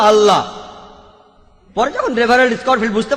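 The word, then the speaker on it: الله: একইভাবে আমরা জানি যে ঠিকভাবে উচ্চারণ করলে আমরা বলবো আল্লাহ। তারা বলে এলা, সমস্যা নেই, তবে সঠিক উচ্চারণ হলো আল্লাহ।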